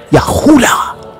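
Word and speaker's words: יהודה: So you pronounce it in English as Judah, but it's not pronounced with the vowel sound. It's pronounced with the as in Yahuda or Yeshaya, Isaiah. It's not pronounced with the W sound.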